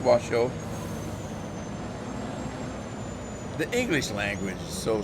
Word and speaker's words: Washoe: S-H-O-E is shoe. But it's pronounced Washoe.